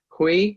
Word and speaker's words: Hui: And I believe Amanda Hui, is it pronounced?